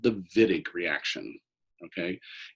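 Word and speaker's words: Wittig: carbonyl is okay and this is called the vidiq reaction okay it's German it's pronounced Finnick but it's spelled Witek so okay so in the vinik reaction what we have is we have a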